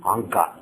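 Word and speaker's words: अङ्क: It's not Amka or Anka. This is Anka.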